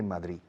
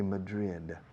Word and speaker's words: Madrid: Don't say Madrid, say Madrid.